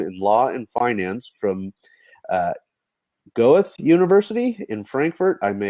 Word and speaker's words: Goethe: I'll just correct the pronunciation. It's a Goethe University from Frankfurt.